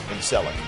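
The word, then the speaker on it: Celek: It's a soft C in Selleck.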